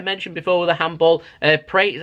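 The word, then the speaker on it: Pereira: half like I mentioned before with the handball pre is how you say his name he had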